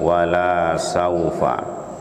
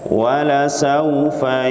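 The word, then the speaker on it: وَلَسَوْفَ: Akrom buka facial woh disini lainnya harus ndek ya karena sebagian orang membacanya dengan panjang walasaufa ya ini perubahan maknanya 100% berubah 180° perubahannya ya yang benar pendek walasaufa Joe Liga ROM buka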